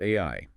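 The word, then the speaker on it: 愛: because it's pronounced AI.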